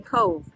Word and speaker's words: Cobh: We're on, but where we are docked, we are in Cobh. We're in the town of Cobh in the county of Cork. Yes, and we are, it's spelled C-O-B-H, but the B-H says the B sound.